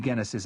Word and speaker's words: Genesis: "Have you heard of any Genesis activity in the Atlantic?" I asked Alanbe, forcing myself to use the German pronunciation with its hard G.